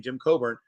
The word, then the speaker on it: Coburn: Jim Coburn.